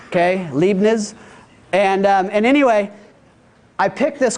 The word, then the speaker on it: Leibniz: His name was, I don't know how to pronounce it, Leibniz. Okay, Leibniz.